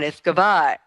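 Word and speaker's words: uisge beatha: Thank you for that primer on Iskavar.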